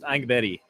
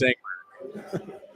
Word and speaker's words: Engberg: Fun fact, I believe the last name is correctly pronounced Angbetti. But this is America, so it's Engberg.